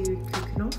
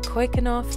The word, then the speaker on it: Keukenhof: Today we are heading off to Keukenhof, Tulip Festival, which is really, really nice.